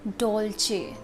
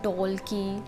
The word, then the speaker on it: Dolce: And Dolce is Dolce, not Dolce.